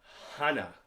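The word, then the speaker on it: 하나: actually see we have first one one hana pronounced like hana h1n8 dual pronounced like the word dual that'll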